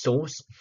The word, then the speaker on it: SRC: front end folder we have the SRC folder pronounced source and the source folder has the actual codes